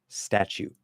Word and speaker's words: statute: Statute. Okay. Now, again, focus on your ears, not your eyes. The E at the end of statute is silent.